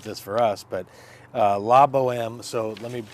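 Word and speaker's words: La Bohème: to think about this for us but uh Lobo M so let me spell that for you so you have it La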